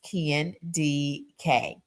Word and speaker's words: Kendi K: Kendi K, pronounced Ken D.K.